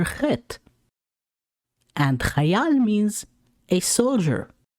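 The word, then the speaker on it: חֵית: The letter Chet is a Gutler letter with no English letter corresponding to its sound. However, the syllable CH could help you catch the sound of this letter. I like to think about it as cleaning your throat.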